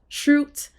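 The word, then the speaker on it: chroot: with this command called Truth um I think some people pronounce it differently but your girl says shoot so um but basically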